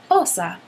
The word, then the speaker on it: Osa: Fiber Fiend on Ravelry, who sent us the yarn, you say her name, Osa.